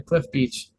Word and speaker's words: Cliff Beach: And if you want to stream music online, just under Cliff Beach. Cliff like the cliff, beach like the beach.